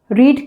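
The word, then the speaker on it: read: पर उच्चारण क्या रहता है? रीड रेड रेड। Second form को रेड पढ़ते हैं।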